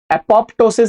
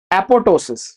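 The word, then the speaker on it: apoptosis: एपोप्टोसिस नहीं, the second P is silent, it इज एपोटोसिस, ठीक है।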